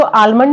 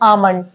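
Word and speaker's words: almond: आलमंड पढ़ते हैं तो ये दोनों ही सही है इसको आलमंड भी पढ़ा जाता है और आमंड भी पढ़ा जाता है ब्रिटिश इंग्लिश में हम इसको साइलेंट रखते हैं इसको प्रोनाउंस नहीं करते ब्रिटिश इंग्लिश में हम इसे बोलते हैं आमंड लेकिन अमेरिकंस जो होते हैं जो अमेरिकन इंग्लिश में इसको आलमंड बोला जाता है ये दोनों ही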